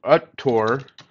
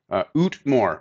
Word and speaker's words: Utmor: We've made it to Uttor, or Uttor. I'm not sure how it's pronounced. Utmor. Oh, yeah, I was totally blowing it.